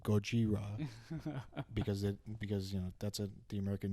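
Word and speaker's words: ゴジラ: I think I looked this up and apparently like, yeah, you're right in that it was just originally called Godzilla, or as they pronounce it, Gojira, because that's the American name they gave it.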